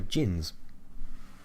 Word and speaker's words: djinn: Another word for them, or like their original name, were Djinns. Yeah. And it was spelled D-J-I-N with a silent D.